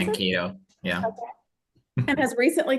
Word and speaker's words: Mankato: Mankato, yeah.